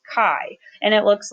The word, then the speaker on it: chi: new distribution it's called the chi-square distribution it's pronounced Chi and it looks like this it's pretty much